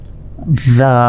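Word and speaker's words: ذال: এরপর এটা দেখুন জিহ্বা বের করে উচ্চারণ করতে হবে, এটা হচ্ছে 4 আলিফ টান, জাল, জাল।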